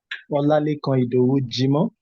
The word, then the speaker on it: Olalekan Idowu Jimo: You pronounce my name quite well. It's Olalekan Idowu Jimo.